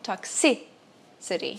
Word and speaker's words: toxicity: Toxicity é toxicidade e a síba mais forte é o toxicity.